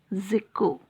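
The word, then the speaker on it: Tjikko: Old Zico. T is silent here. How do we pronounce? Zico.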